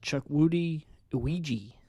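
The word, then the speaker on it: Chukwudi Iwuji: Chuck Woody Iwiji. Or Yeah. wait, it's actually Chuck Woody Iwiji. That's how you pronounce it.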